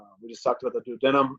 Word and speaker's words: duodenum: just talked about the duodenum now I pronounced that way I've had instructors and my schooling called the denim I've also heard it called the duodenum this is a shortish